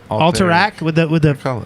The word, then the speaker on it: Alterac: Alteric. Wait, what do you say? It's Alterac, isn't it? Alterac with the accent on the end.